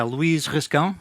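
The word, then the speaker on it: Luís Rascão: me introduce myself first my name is yeah Louise risk ow it's a hard Portuguese name to pronounce I've been working at mini clips and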